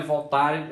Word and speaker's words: Voltaire: Na pronúncia é Voltaire, não é Voltaire, é Voltaire porque ele é um francês.